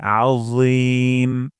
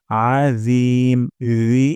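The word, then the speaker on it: العظيم: সুবহানা রব্বিয়াল তারপর আজিম আইন গলার মাঝখান থেকে উচ্চারণ করতে হবে আ তারপর র জিহ্বার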